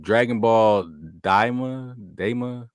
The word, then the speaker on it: Dragon Ball Daima: How do you pronounce it? Dragon Ball Daima.